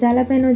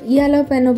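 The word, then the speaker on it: jalapeño: এরপর দিব একটু পেঁয়াজ আর জ্বালাপেনো যে মরিচ থাকে, এটাকে এখানে আবার ইয়ালোপেনো বলে, কারণ এখানে যে উচ্চারণটা ওরা করে না, ওরা ওইটাকে বলে।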